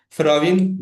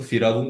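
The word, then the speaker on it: firavîn: Firavin bunu firavun şeklinde telaffuz edenler var arkadaşlar. Bunu yapmayalım.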